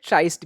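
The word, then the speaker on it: tryst: ये भी एक इंटरेस्टिंग है, ट्रस्ट या फिर ट्राइस्ट भी कहते हैं इसको। आपको जैसा उच्चारण करना है कर सकते हो।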